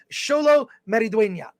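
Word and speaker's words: Xolo Maridueña: can at least pronounce sholo meridenia I think the D is pronounced like a th sometimes there yeah yeah salad uh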